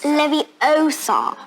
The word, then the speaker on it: Leviosa: It's Leviosa, not Leviosa. Except neither Willow nor Elora